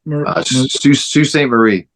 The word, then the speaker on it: Sault Ste. Marie: Sault Ste. Marie. I know it's like a French pronunciation, but yeah.